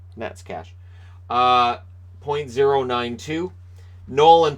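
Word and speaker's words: Neckář: either Stanislav Nets cash that doesn't look like Nets cash but that is how it's pronounced for years I just neck art right neck are no Nets cash point zero nine to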